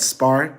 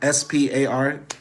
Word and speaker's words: Spar: I mostly shop at Spar SP a r uh I know the hungarians if they're going to to watch this later will chastise me about my pronunciation they'll say it's pronounced Spar not Spar but whatever SP a